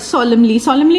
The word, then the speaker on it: solemnly: solemnly, अब look at this word solemnly मतलब होता है मतलब डिग्निटी के साथ टाइप या सच्चाई के साथ, लेकिन इसको प्रोनाउंस ऐसे करना है कि इसमें जो एन है वो नहीं बोलना है.